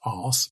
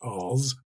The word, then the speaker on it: ars: It comes from the Latin A R S not pronounced ass but Oz and RS was a